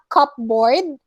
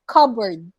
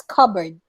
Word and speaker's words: cupboard: and then next is it's not cupboard it's cupboard so you say the uh sorry when you read the word you don't pronounce the letter p it's cupboard okay so cupboard is